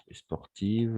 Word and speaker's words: sportive: Il faut bien prononcer parce que, par exemple, je suis plus sportif que mon frère. D'accord? Mais dans ces cas-là, sont sportive. La différence entre féminin et masculin. Sportif pour les masculins.